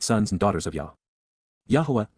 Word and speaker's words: Yahuwah: Yahuwah, Yahuwah, the proper pronunciation of the name of Eloah, God as